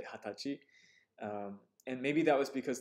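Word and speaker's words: 二十歳: The age 20 is kind of special. It has two pronunciations. Hatachi. And, well, you could just say the traditional 20歳. 20歳. Okay? I was taught in one textbook, this author said that you must always say hatachi, never nijusai.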